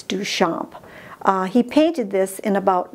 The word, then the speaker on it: Duchamp: Duchamp but it's pronounced Duchamp he was a french guy and so that's why it's Duchamp he painted this in